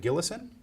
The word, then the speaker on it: Gillison: sea McCarthy I have with me today gillison who has agreed to be interviewed for the